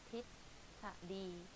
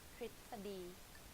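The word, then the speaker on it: ทฤษฎี: In daily life I just say ท ฤ ษ ฎ ี ท ฤ ษ ฎ ี but it's wrong though. So the correct way of pronouncing this is ท ฤ ษ ฎ ี ป ร ะ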